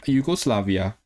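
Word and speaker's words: Iwgoslafia: Yugoslavia.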